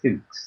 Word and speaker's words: Fuchs: one was a chap called Henry Fuchs. I believe that's how you pronounce this. I could think any other way you might pronounce it.